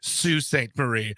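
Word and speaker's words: Sault Ste. Marie: okay thanks a lot it's pronounced Sue St Marie I'm so sorry and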